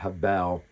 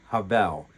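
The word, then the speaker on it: הבל: That's h e v e l or habel, but h e b e l, but I believe it's pronounced havel, meaningless.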